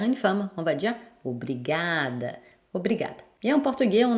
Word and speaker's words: obrigada: Par exemple, obrigado, obrigada. Vu que c'est l'avant-dernière syllabe qui est la syllabe forte, on entend peu la fin et on n'entend pratiquement pas si c'est masculin ou féminin.